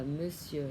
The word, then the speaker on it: monsieur: Đặc biệt viết là O, không đọc chữ R, không đọc, chỉ đọc là mơ si ơ. Đọc lại bonjour monsieur.